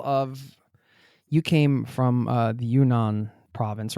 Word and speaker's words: Yunnan: And would you say, is this typical of, you came from the Yunnan province, right? Am I pronouncing that correctly?